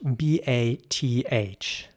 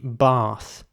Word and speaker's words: bath: Now, in British English, similar to the word we just talked about, it would be bath. Now, again, not everyone in England would pronounce it exactly like that. Some might say bath with more of an F sound at the end.